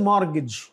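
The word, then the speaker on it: mortgage: के सेंस में मिसचिवस और यह इसमें कौन सा लेटर साइलेंट है टी मज दिस इज मॉर्गेज और यह जो है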